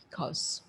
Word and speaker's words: because: Because. We have a tendency to pronounce this particular section as co, or cow, but the real pronunciation is like this.